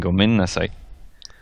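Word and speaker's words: ごめんなさい: like that do sound it out incognita and gomen nasai I would anyway with this sorry I'm about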